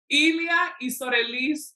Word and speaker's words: Elia: know it was coming Elia oh I was saying it wrong okay great yeah the I sometimes looks like an L it does looks like